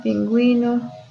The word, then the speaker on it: pingüino: necesit vamos indicar que la u debe pronunciarse Argüello cigüeña agüita pingüino esa es esta partecita